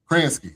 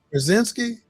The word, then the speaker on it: Krasinski: All right, so and John Kransky, man, again with the John Kransky.